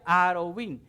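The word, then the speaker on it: ערבים: cuervos se pronuncia orvin y la palabra árabe se pronuncia ar o bing y cuando digo árabe no estoy diciendo en árabe sino la palabra árabe como tal el gentilicio de un árabe se pronuncia haro bin ahora aunque se pronuncian diferentes lo curioso es que en hebreo se escriben exactamente iguales y solo el contexto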